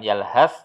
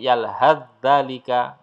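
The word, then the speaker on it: يلهث ذلك: Maka cara membacanya, sa sukunnya ini dilenyapkan, dihilangkan, langsung masuk zal yang bersyaddah atau bertasdid. Yalhadzalik, yalhadzalik, ya, yalhadzalika, ya. Bukan yalhaz, tapi yalhadzalika, ya, gitu ya.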